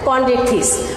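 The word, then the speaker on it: Chondrichthyes: এইটার class 1 number class হচ্ছে কন্ড্রিকথিস। CHONDRICH, কন্ড্রিকথিস। শিক্ষার্থীরা তোমরা দ্রুত লিখে ফেলো। কে কে লাইভে আছো একটু দেখে নেই। তো শিক্ষার্থীরা, তো তোমরা বেশি দেরি করো না। THYS, হ্যাঁ, কন্ড্রিকথিস।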